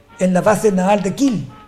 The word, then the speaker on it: Kiel: la base naval de Kill se escribe kiel y más empezaron a